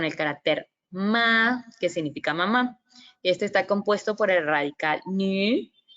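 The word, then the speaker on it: 妈: Ajá, aquí tenemos otro ejemplo con el carácter ma, que significa mamá.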